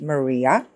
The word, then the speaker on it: Maria: but okay so Mar my name is actually pronounced Maria and the surname that